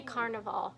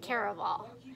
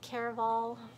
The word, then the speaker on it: Caraval: I actually finished, I say Carnival, it's Caraval. Like, I keep saying it wrong.